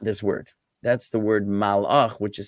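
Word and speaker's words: מלאך: Okay, it sounds like this word malach, and some people might say, "Oh, melachim are kings," from the word melech, right? It's not melech as king either.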